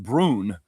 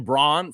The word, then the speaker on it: Braun: Uh Christian Brun is pronounced Brun. Brun. Yeah, I'm I'm I'm I don't give a He's an up. I don't care. I I was calling him Christian Braun for a long long time.